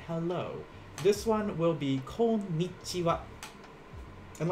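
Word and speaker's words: こんにちは: this in hiragana uh that last sound the last one here we pronounce it as like wah but when you write this in hiragana it actually uses the symbol for ha so this is called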